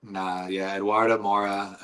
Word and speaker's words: Eduarda Moura: Eduarda Moura.